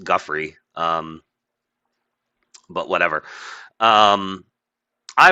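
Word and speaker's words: Giuffre: It was always pronounced Guffrey.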